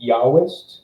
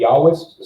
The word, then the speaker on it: Yahwist: J stands for the Yahwist, which it was a German theory, so that's why J is pronounced as Y. Stands for the Yahwist source, which is typically held to be the oldest one of them.